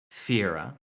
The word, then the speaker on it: Fire: Fire, though he pronounced it Fiera.